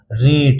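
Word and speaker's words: rate: तो र प्लस ए हो गया और प्लस ट हो गया। तो ये क्या बन गया? रेट।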